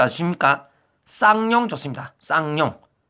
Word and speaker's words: 쌍용: 쌍용. 쌍시옷 할 때 우리 그 쌍 알죠? 쌀 할 때 쌀.